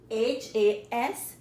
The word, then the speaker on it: has: HAS, you need to pronounce that H.